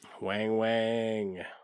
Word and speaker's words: Weng Weng: Weng Weng. Weng Weng. Pronounced Weng Weng. Spelled W-E-N-G. That's right.